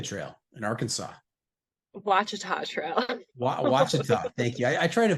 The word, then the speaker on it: Ouachita: Ouachita.